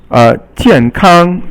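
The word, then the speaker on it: 健康: And then 健康, 健 is fourth tone, and 康 is first tone, and it means healthy.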